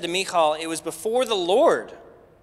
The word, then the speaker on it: Michal: That's how you pronounce it. Everybody say me. All. Now say Michal.